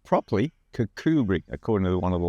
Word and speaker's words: Kirkcudbright: Kirkcudbright. Pronounced properly, Kirkcudbright, according to one of the locals we were just talking to.